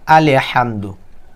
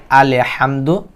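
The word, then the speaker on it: الحمد: সকলেই খেয়াল করেন এখানে অনেকে বলে আলি হামদু যখন আমি বলব আলহামদু আপনারা কিন্তু কোন জায়গায় ভুল হয়েছে কেউ ধরতে পারবেন না সকলেই বলবেন আলহামদু লিল্লাহ লিল্লাহ হইছে কেন এখানে অনেকেই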